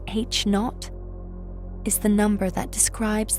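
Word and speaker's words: H₀: The Hubble constant, denoted H0, pronounced H naught, is the number that describes the current rate of cosmic expansion.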